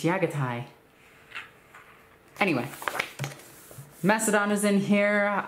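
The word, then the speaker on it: Jaghatai Khan: it annoys people like when i pronounce yaga taiyan instead of jagatai khan because that's not the way mongols pronounce a language it's yagatai anyway macedon is in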